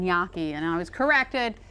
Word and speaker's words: gnocchi: I kept saying gnocchi, and I was corrected. It's a gnocchi. Well, you know what? There's a couple ways of saying it, and gnocchi is one of them.